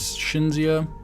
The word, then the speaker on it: Cinzia: This is, I think her name is Cinzia. This is how she pronounces it.